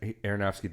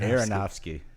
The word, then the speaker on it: Aronofsky: So Darren Aronofsky did The Wrestler.